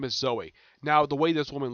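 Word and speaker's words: Zoë: It's pronounced traditional Zoe, Z-O-E, but with 2 dots over the O.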